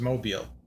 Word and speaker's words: Mobile: I would say it's Mobile, Alabama. It is, right? You pronounce it as Mobile. Yes. Nobody says Mobile Alabama except a cell phone carrier or something.